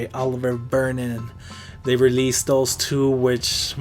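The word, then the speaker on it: Olivier Vernon: That's how you say it, Oliver Vernon.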